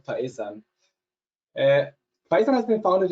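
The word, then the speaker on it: Phaesun: the company faison yeah there's a different pronunciations like fisan faison the correct way would be faisan uh pyson has been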